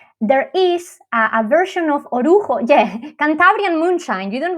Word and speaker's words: orujo: having a shot of a traditional drink called orujo. That is spelled O-R-U, J of Juliet, O, orujo.